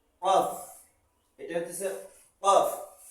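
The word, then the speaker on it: قاف: কফ, এটা হচ্ছে কফ। যেমন বক, বক উচ্চারণ করে, শব্দ করে কক কক কক কক, ঠিক এইভাবে এই হরফটা উচ্চারণ হবে কফ কফ কফ কফ কফ।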